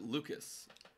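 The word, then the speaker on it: Lukes: little curve in okay I'm pretty sure Nathan Luke's pronounced it Lucas Nathan Lucas Nathan Lucas interesting I thought it was luk we'll find out we'll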